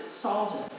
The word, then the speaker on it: Salge: How would S-A-L-G-E be pronounced? He would have pronounced it Salgen.